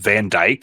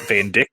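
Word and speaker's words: Vandyck: of the fact that his last name is pronounced Van Dyke and not Van Dick yes which I thought it was for the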